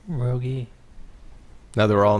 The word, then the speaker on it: Rogge: By the way, is that how you say it, Rogge? It's Rogge, yeah. Rogge.